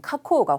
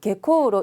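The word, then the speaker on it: 下降: 조쇼라고 읽는데 반대말인 카코오가 훨씬 중요합니다. 하강 읽으실 때 하자를 개로 읽지 않도록, 개코로 읽지 않도록 조심하셔야 되세요.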